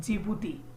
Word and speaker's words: जिबूती: है आपका द्वीपवती नहीं, जिबूती। Right friends, जिबूती। Right friends, D silent है वहां पे।